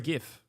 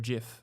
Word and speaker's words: GIF: It's got a GIF or a GIF, as it's apparently pronounced.